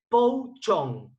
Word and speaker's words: pou chong: Y el segundo, semifermentado o azul, es el pou chong, que es P-O-U-C-H-O-N-G, pou chong.